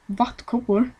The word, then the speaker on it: Vattkoppor: Or in Sweden, as it's pronounced, Vattkoppor, which means chickenpox.